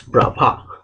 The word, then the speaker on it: Bravais: It is written, the spelling looks like Bravais, but you have to pronounce it as Bravais.